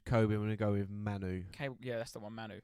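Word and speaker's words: Mainoo: vote between Lewis Miley and um how we pronouncing this his first name is Kobe I'm GNA go with Manu yeah that's the one Manu Manu um both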